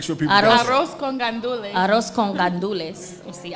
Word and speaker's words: arroz con gandules: and arroz con condules was delicious. Did I say that right? Say it one more time. Make sure people Arroz. got it. Arroz con gandules.